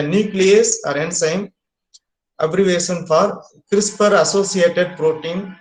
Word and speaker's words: CRISPR: So for the beginners, the CRISPR should be pronounced with an E. So we call it is CRISPR. So for pronunciation, we put an E, so we call it CRISPR.